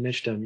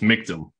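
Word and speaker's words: Michtom: Okay, seeing none, Councilman Mitchum, you have the floor. Thank you, Chairman. And I never correct anyone, but it's Mictum, rhymes with victim.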